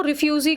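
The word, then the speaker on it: refuge: सो रिफ्यूजी का रिफ्यूज वैसे बोलते हैं ई साइलेंट रहता है।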